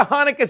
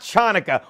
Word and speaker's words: Hanukkah: to say during the Hanukkah season, a spin of the dreidel. Yeah, Hanukkah, not Chanukah. Why do people always pronounce the C? It's silent.